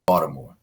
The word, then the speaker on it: Baltimore: Now you put me on the spot, but I say Baltimore. All right. So if you're from the area, you're gonna say it with a D.